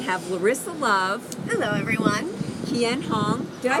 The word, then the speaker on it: Kien Hoang: Kien Hoang. Did I say it right? Kien Hoang, yes.